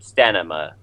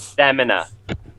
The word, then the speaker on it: stamina: heal him for eight stanina from what this look like that's you're not saying it right yeah anyone else noticing he's saying stanina yeah yeah I have stamina there you're healing so